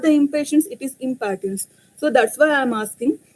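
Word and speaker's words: Impatiens: In the initial period, we think that it is impatience, the drug name is, but it is not the impatience, it is impatience.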